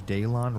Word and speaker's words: Daylon: Daylon rhymes with Kalon.